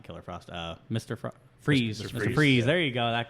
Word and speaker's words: Fries: freeze yeah it is freeze it's yeah it's spelled f-r-i-e-s and they sometimes pronounce it as fries but they also like it's supposed to be freezing um but like even